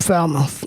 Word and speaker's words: Falmouth: i'm pronouncing it wrong is it foul mouth yep falmouth yeah and uh as